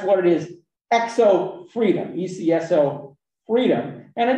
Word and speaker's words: ECSO: effective control self-ownership e which is abbreviated e c s o pronounced exo um and uh ecs